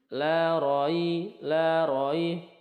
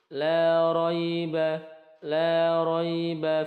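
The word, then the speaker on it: لَا رَيْبَ: Lin itu dibaca lentur, bukan cepat ataupun seperti ini. La roi, bukan, juga bukan la roi, bukan juga, tetapi kita membacanya seperti ini. La raiba fih, la raiba fih, fih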